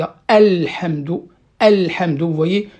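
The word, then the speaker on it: الحمد: Par exemple, dans la Fatiha, il y a Alhamdu. Alhamdu, vous voyez, le A, je ne dois pas le faire tomber, je dois le prononcer entièrement.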